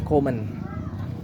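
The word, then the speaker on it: Koeman: comen on onold comen keman dibacanya komen Ronald komen Kenapa Ronal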